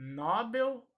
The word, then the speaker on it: Nobel: o nobel ou nobel esta palavra é oxítona portanto a sílaba tônica será a última assim como a palavra condor o acidente dorsa na última sílaba tônica oi bel mas se a última sílaba vai ser a sílaba tônica portanto a última sendo pronunciada mais forte então ele recebeu o